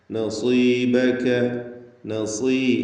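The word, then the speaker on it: نصيبك: വലാ തൻസ നസീബക. നസീബക. സ്വാദിന് കുറഞ്ഞ തഫ്ഖീം കൊടുക്കണം, കസ്റായതുകൊണ്ട്.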